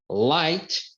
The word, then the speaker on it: light: é quando o GH ele não vai ser pronunciado for exemple night night né que é noite Light que é luz light que é direita e